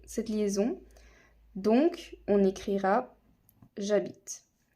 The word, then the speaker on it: j'habite: le transformer vu que c'est un h muet il ne se prononce pas ça ne peut pas marcher cette liaison donc on écrira j'habite j apostrophe maintenant on